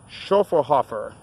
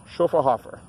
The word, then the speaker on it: Schöfferhofer: we're looking at for the pronunciation shuffle Hoffer SCH o FF ER h au fer shuffle Hoffer a great food hefeweizen